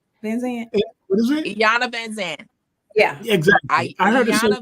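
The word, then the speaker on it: Iyanla Vanzant: I heard, I don't know how to pronounce her name. And Yanya Van Zandt.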